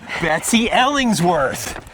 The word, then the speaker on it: Betsy Ellingsworth: Well, her name is Betsy Ellingsworth. Does that pronunciation sound all right for you?